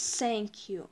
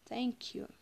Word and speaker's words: thank you: цельсию вот первая буковка не читает скользи них читается не как все мы не говорю с сэнк ю не надо выговаривать первую букву с надо говорить немножечко смотрите язычок высовываем eddore соньки у или секс thank you обычно мы говорим сэнк ю это когда вот